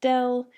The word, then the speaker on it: del: by this symbol here it looks like an upside down triangle but it's pronounced del or the actual name